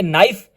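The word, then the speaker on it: knife: कनाइफ लिखा हुआ है के साइलेंट है तो हम पढ़ेंगे नाइफ के को नहीं देखेंगे एन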